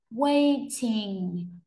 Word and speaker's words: waiting: A, waiting. Waiting, trọng âm rơi vào âm 1 mọi người nhé. Waiting, nhấn mạnh âm 1 ạ.